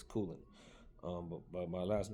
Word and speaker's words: Kulin: First of all, it's not, it's not Colin, it's not Kulin, it's Kulin.